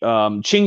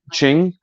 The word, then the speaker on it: Qing: Qing. Qing. Yeah, in Chinese, Q is the English letter Q is rendered as CH.